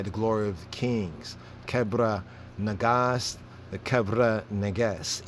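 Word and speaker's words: Kebra Nagast: glory of the kings kebra nagas the cabra negas ethiopian pronunciation cobra i you know the cobra negas kubra kubra negas regular pronunciation kebra kibra but it's the glory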